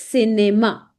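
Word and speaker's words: cinéma: Now whenever C is with E and I whenever C is with E and I whenever C is with E and I then ci gives the sound of SI. So CI gives a sound of C. C that is cinema.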